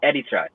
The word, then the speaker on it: Eritrea: It's pronounced Eritrea, different.